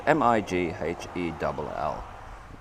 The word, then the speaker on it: Mighell: hear too many people say it, but it's Mighell.